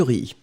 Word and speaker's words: riz: regardez d'abord on a du riz c'est du riz d'accord on ne prononce pas le Z final et après cette partie